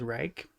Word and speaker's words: Reich: never forget that I did not know that our actual pronunciation of our name was Reich. Because I was born and raised to always think of it as Rich.